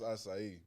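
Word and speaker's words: açaí: You know, it's acai. Yeah. TJ was like, how it got more syllables than it got letters.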